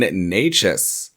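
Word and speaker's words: Nečas: All right, next up, I want to talk about one of the really exciting players in Carolina right now, Martin Necas.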